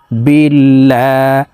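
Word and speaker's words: بِاللَّهِ: লাম খারা জবর আল্লা আল্লাহ শব্দের আগের হরফে জের থাকার কারণে এই লামকে পাতলা ভাবে অর্থাৎ লা বলে পড়তে হবে বা লাম জের বিল লাম খারা জবর আল্লা বিল্লাহ হাজিরহি বিল্লাহি আউজুবিল্লাহি মিম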